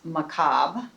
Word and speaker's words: macabre: In the US it is macabre, period. But French is cabre.